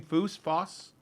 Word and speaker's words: Foss: Foss.